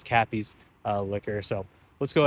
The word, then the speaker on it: Cappy's: Uh, you know, call it crappies liquor. Um, I don't think it's probably that that that's horrible, but my dyslexia itself uh kept mispronouncing it when I was trying to shoot this multiple times already, but it is Cappy's uh liquor.